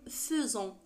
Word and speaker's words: faisant: هنا كُتبت "faisant" ولكن تُنطق "f'zan".